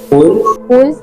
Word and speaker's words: wool: wool, Except for one subject, everyone else pronounced it wrong due to unawareness of vowel shortening from U to U.